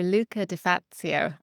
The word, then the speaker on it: Luca De Fazio: Luca Deatzio. I hope I've pronounced your name correctly.